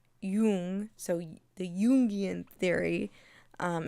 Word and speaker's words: Jung: okay the jungan theory the Yung I don't know how to pronounce his name correctly I always people pronounce it differently but I think it's Yung so the yian theory